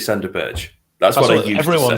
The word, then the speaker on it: Berge: Well, Berge now, after listening to you, Hal. But it's the way he says it. I used to say Burge. I used to say Sander Berge.